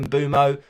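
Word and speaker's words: Mbeumo: Like I'm looking at Mbumo, or Brian Burmo, as it's apparently pronounced, for game week 14 against Luton.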